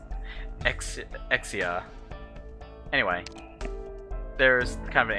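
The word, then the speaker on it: Exusiai: horns uh let's see i pronounced her name exsusii but it seems like the japanese pronounce her name exia anyway there's kind of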